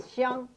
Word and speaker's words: Xiang: For instance, Hong Kong, the word for Hong or in Mandarin is Xiang, It's spelled X-I-A-N-G because in Mandarin it's pronounced xiang.